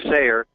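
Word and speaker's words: Steyer: a tycoon named tom i think he pronounces his name sayer and he has a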